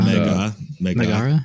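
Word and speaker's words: Mehrgarh: Megarh? Megarh. I think Megara is a fair pronunciation.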